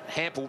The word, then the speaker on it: Hampel: Tell you, the word Hampel rhymes with ample, and I think that's